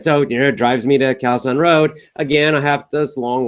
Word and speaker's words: Khao San Road: to foreign people saying kalson road they're used to the terrible pronunciation they understand it so I would just say ah ok khao san road so they would drive